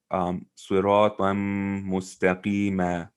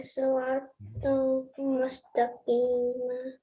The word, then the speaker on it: صراطا مستقيما: When you're stopping, you would recite it siratan mustaqima. So you wouldn't pronounce the noon sound at the end, but you would pronounce the fatha there. Okay, thank you. صراطا مستقيما Very good.